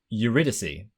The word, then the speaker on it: Eurydice: Eurydice, delighting her. Would you be happy with how I pronounced that?